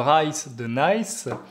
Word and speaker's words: Brice de Nice: en tête j'ai dit brice de nice mais normalement il faut le prononcé avec un faux accent anglais ben reitzes de nice c'est un personnage qui